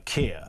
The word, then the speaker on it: Kia: uh two tier uh KIA, which unfortunately for KIA, two tier rhymes with Kia.